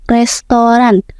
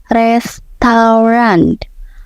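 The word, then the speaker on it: restaurant: Sering banget dengar orang bilang restoran. Padahal yang betul itu restoran. Ada sedikit bunyi teh di akhir yang enggak terlalu kuat.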